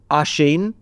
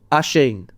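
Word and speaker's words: Oisín: Can we learn how to say Oshin pronounced Ashen? Ashen.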